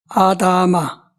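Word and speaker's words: אדמה: 아다마. 히브리 말로 발음이 이제 이렇게 나와요. 아다마. 아담하고 조금 발음이 틀리죠. 아담과 아담아. 이게 아다마.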